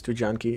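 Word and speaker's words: Studzianki: here and spectate him you always pronounce this tujanki yeah that's that's that's that's the polish polish way to call it and it is of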